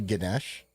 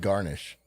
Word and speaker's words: Ganesh: that he's known for oh it's actually ganesh yeah this is spelled garnish no ganesh oh gosh stop thinking of food spade so steve why